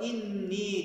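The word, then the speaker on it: إِنِّي: Peki neden burada inni dedik cümlenin ortasında gelmesine rağmen? Kuralımız şu dostlar. Gale fiilinden sonra elif nun maddesi geliyorsa cümlenin ortasında da olsa enne okunmaz. İnne şeklinde okunur.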